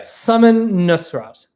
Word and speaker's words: Samin Nosrat: Okay, I'm gonna pronounce her name right so that I don't screw this up. Okay, yeah, Samin Nosrat.